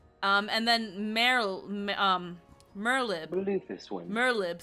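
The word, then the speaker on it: Merlwyb: um and then um merlib merlib so the w is silent merlib bluefish win we have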